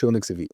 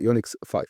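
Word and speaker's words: UNIX V: في او يونكس 5 الفي هي حرف الخمسه الروماني فهو ما بيتنطق يونكس في هو يونكس 5 والتحالف اللي كونته مع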